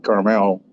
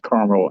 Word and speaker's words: Carmel: private investigator based out of carmel indiana not carmel it's pronounced carmel out here in indiana which is a suburb